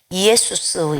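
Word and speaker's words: Ἰησοῦς: 여기서 예수라는 이 말이요, 헬라어에서는 이에수스 이렇게 발음을 하더라고요. 이에수스.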